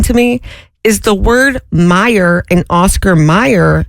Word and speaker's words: Meyer: Like M E Y E R. Yes. Me, too. It's Oscar Mayor, not Oscar. Well, no, it's Oscar Meyer, not Mayor.